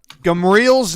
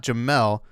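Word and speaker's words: Gemerl: I use Gmarl because it's not Jamel, because it has an R.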